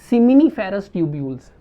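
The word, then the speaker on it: seminiferous tubules: ट्यूब्स मौजूद होती हैं, जिनको हम कहते हैं सेमिनिफेरस ट्यूब्यूल्स या सेमिनिफरस ट्यूब्यूल्स भी इनको हम प्रोनाउंस करते हैं, सेमिनिफरस ट्यूब्यूल्स मौजूद होती हैं।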